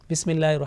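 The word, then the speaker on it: بسم الله: Bismillahir Rahmanir Rahim. Bismillah, meem with kasra. So it will be pronounced with thick or thin sound? Thin sound. Okay. So we can't say Bismillahi, Bismillahi. Simple, softly, thin sound.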